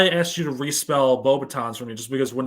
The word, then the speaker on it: Beauxbatons: always thought it's pronounced Bobatons, because it is Beauxbatons. Oh my god, come on. It is. Damn it. Bobatons. Damn it. That is correct. And Oh boy. Oh, you're back. Yes. So you got Bobatons correct.